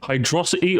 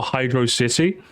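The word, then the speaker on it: Hydrocity: to beat you up hydrosity or hydr city it's hydrosity purely because hydrosity just sounds more fun to say if you say hydrosity that's fine but hydrosity is just a more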